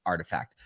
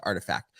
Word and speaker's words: RTFKT: sneaker company named artifact it's actually pronounced artifact but it's uh what